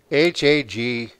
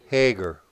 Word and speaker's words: Hagar: with an h what h-a-g-a-r hager or some pronouncing hagar but we'll just call her hager that was and she